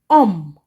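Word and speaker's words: homme: a vowel okay so because we do not pronounce the h in French we will say this word um we start pronouncing from here om om let's move on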